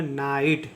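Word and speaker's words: night: तोय हो जाएगा नाई और जी एच साइलेंट होगा टी का उच्चारण होगा ट इसको पढ़ेंगे नाइट इसको पढ़ेंगे नाइट ठीक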